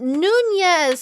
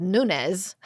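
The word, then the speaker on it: Núñez: other than Oscar Nunes now is it Nunes or it's not Nunes it's Nunes but I I answer to both it's fine yes yes some people say Nunes yeah how do how does someone not know it's n that it's nun I without even the what's it called a till day yeah exactly without the tild day God do you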